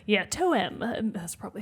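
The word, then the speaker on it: TOEM: tome spelled t-o-e-m so not like the traditional tome book spelling like yeah toe-em that's probably how it's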